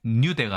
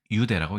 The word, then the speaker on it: 유대: 첫 어절에서는 유로 읽기 때문에 뉴대가 아니라 유대라고 읽는 것이죠.